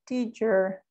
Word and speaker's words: teacher: So we say teacher, es más cerrada la CH. Y el acento va en la primera sílaba, como el énfasis. Digo teacher, teacher. Es un poquito más cerrada. La punta de la lengua va al paladar superior y ahí, desde ahí pronunciamos la CH, yo diría.